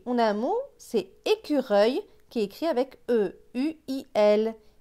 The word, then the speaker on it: écureuil: Ici, on a un mot, c'est écureuil, qui est écrit avec E-U-I-L. Écureuil. On entend bien le œil.